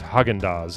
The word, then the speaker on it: Häagen-Dazs: Like Nina Hagen, but the G is pronounced differently in Dutch. Hagen. Ruben Mattis invented the phrase Häagen-Dazs in a quest for a brand name that claimed it was Danish-sounding.